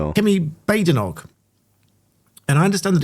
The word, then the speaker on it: Badenoch: Kemi Badenoch. And I understand that it's Badenoch, as I I hear some people um saying it differently. I think she's corrected some someone before. It is Badenoch.